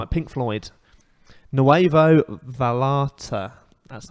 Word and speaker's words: Nuevo Vallarta: Nuevo Vallarta. That's how you pronounce it.